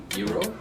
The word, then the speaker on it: gyro: um so how did you say gyro so i think zero no it's greek so how would greek people say it giro hero yeah maybe they because uh